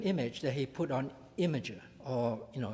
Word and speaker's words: Imgur: that he put on imager or you know it's spelled Imgur but of course it's pronounced Imager an imager does not